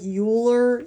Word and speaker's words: Euler: see this word right here that looks like Euler it's actually pronounced Euler it's a Swiss mathematician he actually